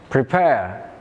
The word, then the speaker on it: prepare: The answer is attend. It has stress on the second syllable while the other three have stress on the first syllable.